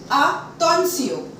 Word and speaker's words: attention: If T-I-O-N come together, we are going to pronounce it as Sion. For example, salutation, salutation, félicitation, félicitation, attention, attention.